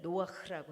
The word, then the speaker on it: 노아흐: 그래서 하나님께서는 이제 오늘 노아흐라고 해서 이게 노아죠. 노아에다가 이제 헤이라는 단어를 붙여서 읽 읽을 때 노아 흐라고 읽죠.